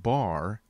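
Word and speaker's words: בר: the word bereshit is a hebrew word for sun batrash pronounced bar is translated sun in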